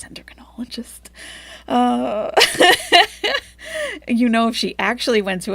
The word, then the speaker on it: endocrinologist: So we know it's an endocrinologist, but Chantal pronounces it, like persistently pronounces it, endocrinologist. Multiple times she said this, endocrinologist. But yes, we all know it's endocrinologist.